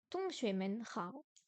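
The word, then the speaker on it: 同学们好: 同学们好， Hong, deuxième ton. Xue, non, xue, deuxième ton. Men, ton neutre. Hao, troisième ton. Tong, non, avec un petit H. Tong xue men hao.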